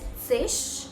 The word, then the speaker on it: sich: Like, I know that depending upon what region and where Germans live, they pronounce it as sich, like sure, or they pronounce it as sick.